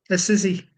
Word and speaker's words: Assisi: How do you pronounce it, Jack? Assisi.